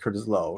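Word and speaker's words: Curtis Loew: second helping is my favorite senior album It's pronounced Curtis Lowe yeah thank you yeah because because the things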